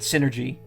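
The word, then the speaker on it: Psynergy: game and they i remember them calling it synergy like the person uh representing nintendo called it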